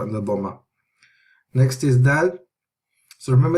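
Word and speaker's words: د: So remember, it's not d like English, it's da. So we're pronouncing this letter with the tip of the tongue. The tip of the tongue to the roots of the gums of the upper incisors, so the front of the palate.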